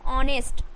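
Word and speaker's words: honest: silent है मतलब कि किसी वर्ड में एच के बाद एच के बाद ओ हो तो एच जो है वह साइलेंट हो जाएगा जैसे यहां पे देखिए ऑनेस्ट एच से O plus N एसटी ऑनेस्ट ऑनेस्ट means होता है ईमानदार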